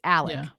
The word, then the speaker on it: Alec: not Alex it's pronounced Alec which is the southern way to pronounce Alex I'm not sure why but we know Alex Alec it's usually Alec but it's Alec not Alex so I'm gonna have